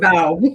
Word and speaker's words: Bow: I mean, everybody gets my last name wrong. It's Bow rather than Bow, but you danced to the middle there, which was good. Bow and bow. But it's Bow.